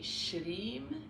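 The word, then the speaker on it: श्रीं: parfait dans votre prononciation mais shrim comme ça donc le s en sanscrit un accent ça se prononce SH comme un ch ça ça va le r ben c'est comme un peu un un r espagnol ou italien c'est roulé avec la langue re ok donc ch le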